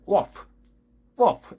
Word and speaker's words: wolf: 우리는 울프 하잖아요. 울프 아니거든요. wolf 이런 발음이 나와야 돼요.